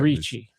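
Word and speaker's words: Ricci: The head of the Cartwright Boys and actress Christina Reachi. Is that what is that how you say it? Reachi.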